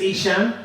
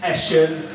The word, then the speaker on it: Isan: bit um my name my name is isan uh which gets mispronounced quite a bit so it gets Asen isan my personal favorite